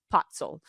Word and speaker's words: Pacl: It's pronounced Pacl.